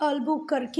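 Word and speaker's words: Albuquerque: तो बेटा आप इसे अफोंसो दी अल्बुकर्क भी पढ़ सकते हैं और अफोंसो दी अल्बुकर्क ऐसे भी पढ़ सकते हैं। ठीक है, दोनों ही प्रोनाउंसिएशन सही है। तो पोर्तुगीज प्रोनाउंसिएशन देखोगे तो वो बिल्कुल अलग जाएगा।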